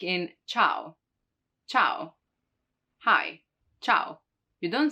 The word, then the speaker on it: ciao: or china china now the letter i can also be followed by some other vowels in that case it's not pronounced like in ciao ciao hi ciao you